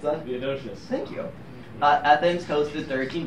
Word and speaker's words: Theodosius: being banned by Roman Emperor, how do you pronounce that? Theodosius.